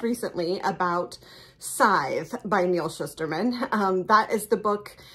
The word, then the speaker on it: Shusterman: by Neil Schusterman um I had been pronouncing it Shusterman but I got the opportunity to see him speak uh on Thursday night this week and I now know that it's Neil Schusterman um I also really